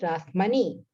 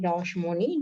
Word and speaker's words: Rashmoni: She's pronounced as Rashmani. But in Bengali, they say Rani Rashmoni Devi.